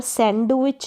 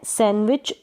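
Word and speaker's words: sandwich: तो I always have a सैंडविच, तो यहाँ पर सैंडविच नहीं बोलेंगे, डी साइलेंट है, तो मैं सैंडविच लेता हूँ, सैंडविच खाता हूँ।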